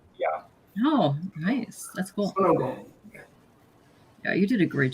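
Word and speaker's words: 손오공: Sonogong. That's how Korean pronounce it. Sonogong. That's how the Koreans pronounce him? Yeah. Oh, nice. That's cool. Sonogong.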